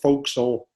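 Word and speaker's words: forecastle: just the tagalon nest as the four castle was the folk soul and the edge of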